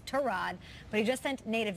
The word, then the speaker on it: Tyrod: they're the Browns said the official pronunciation is tore odd but he just sent